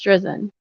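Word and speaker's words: Drizin: collaborated collaborated with Mr drizzen on a number of research projects correct attorney I guess he mispronounced um his name wrong because then attorney gen attorney driven just for the record judge it's josen so he must have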